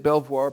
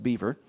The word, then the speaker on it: Belvoir: In 1758, the play Cato was staged at Belvoir, probably pronounced Beaver, home of Washington's colonial era patron.